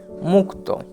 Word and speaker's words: মুক্ত: ময়ে হস্যু মু, এবার কয়েত। তাহলে এটিকে যদি আমরা উচ্চারণটা কীরকমভাবে করছি সেটা দেখি না, ময়ের হস্যের সাথেই হস্যের সাথেই ক উচ্চারিত হবে, তাহলে কি আসবে মুখ, মুখ এবং ত, তাহলে হবে মুক্ত।